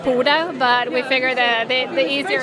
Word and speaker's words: Pode: what is is it poder pod it's pote well it's a Norwegian word so it's actually pronounced puto but we figure that